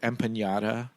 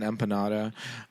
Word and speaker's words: empanada: I also love that she she pronounces it empaata. I guess it's just an empanada.